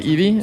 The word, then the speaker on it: Eevee: Okay, that's how you pronounce it. Eevee.